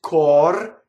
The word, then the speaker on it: cor: In this case, it's cor, and the E is cut off at the end. There's a truncated version.